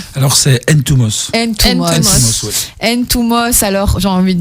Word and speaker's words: Ntoumos: Ton nom de famille se prononce comment ? Alors c'est Ntumos.